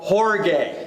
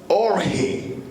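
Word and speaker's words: ὀργή: This one is pronounced in the original horge. La primera se pronuncia en el original orge.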